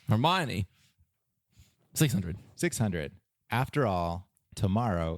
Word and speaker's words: Hermione: I'm going to pronounce it wrong. That's okay. Hermione. Hermione. Hermione.